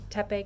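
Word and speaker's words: Tha Phae: How do you pronounce the gate, honey? Tepe gate.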